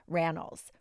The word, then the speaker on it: Rannells: On today's episode, I sat down with actor Andrew Rannells, rhymes with panels.